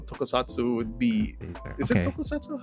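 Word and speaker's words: 特撮: Is it tokusatsu? How do you say it? Tokusatsu.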